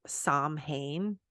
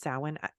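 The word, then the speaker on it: Samhain: Saints Day came before Salin which by the way this can be kind of confusing salwan is spelled like Sam hame s-a-m-h-a-i-n but it's pronounced salmon this is how Celtic language works it really we don't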